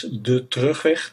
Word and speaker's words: De Terugweg: It is De Terugweg, that's how you pronounce it.